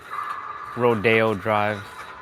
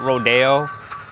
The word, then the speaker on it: Rodeo: Rodeo Drive, which should be just called Rodeo Drive, but they call it Rodeo. Rodeo. It's spelt the same way though.